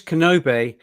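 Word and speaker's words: Knobbe: Chris kenobe which and his name is spelled k n o BBE so it looks kind of uh difficult to read on YouTube but if you think of Obi-Wan Kenobi then you've got Kenobi Chris Kenobi right Obi-Wan Kenobi Chris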